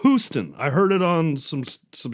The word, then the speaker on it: Huston: I always used to pronounce it Angelica Houston. Houston, but it's Houston.